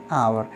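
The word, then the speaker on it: hour: अब यहाँ पे देखिए दी आवर, तो देखिए भले ही इसको हम किससे, ये शुरू किससे हो रहा है एच, लेकिन एच साइलेंट रहता है, इसको हम कैसे पढ़ते हैं आवर, इस तरीके से।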